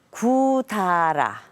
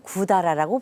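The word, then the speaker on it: 百済: 구다라. 백제를 일본에서는 구다라라고 부릅니다.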